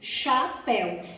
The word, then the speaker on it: chapéu: tu ia falar agora chapéu é com ch mas a gente não fala ch a gente pronuncia o som do chile chapéu então quando duas letras